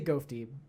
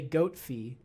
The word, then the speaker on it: Gofty: I always say Gofty. No, that's right. Okay, I'm finally saying it right. I think I used to say Goatfee, and it's Gofty, which I apologize now for not saying it right before.